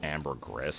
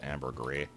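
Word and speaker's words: ambergris: of either gristle or Amber Gris from Futurama which I'm pretty sure is actually pronounced Amber Gree but um can we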